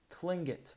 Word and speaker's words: Tlingit: minneapolis garvey said he was a tlingit indian pronounced clingit proudly with the clicking of his tongue as if saying klingkit he was built like